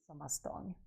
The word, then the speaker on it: stång: It's called the Midsummer Stång. I can't pronounce that in Swedish properly, but I have somebody who can. Have a listen and a look. Stång.